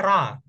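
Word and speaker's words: רַע: ya sesama rea Oke tapi kalau nikutnya hanya A itu dibacanya ra ra Bil ingat ra artinya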